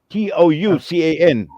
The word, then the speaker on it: Toucan: Murad assalamu alaikum welcome foreign how do I pronounce it t-o-u-c-a-n a flight to Ken uh okay okay toucan okay there we go